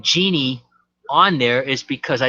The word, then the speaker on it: Jeannie: So the G in Genie, me, it rhymes with me on Lean on Me, Jeannie Marie.